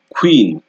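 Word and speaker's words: queen: অথবা graph graph graph এরপর আছে কিউ ইউ কিউ ইউ এটাও একটু ডিফারেন্ট টাইপের এটাকে উচ্চারণ করতে হবে খা খা খা মানে কে আর ডব্লিউ কে ডব্লিউ দুইটার উচ্চারণ এখানে চলে আসবে খো খো খো ঠিক এক্সাম্পল যদি দেই কুইন কুইন কুইন কুইন quick quick quick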